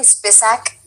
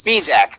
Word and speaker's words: Spisak: proper intro guys this did i say it correctly spissack or sp well it's spisak with a speed at the beginning of that i should have asked this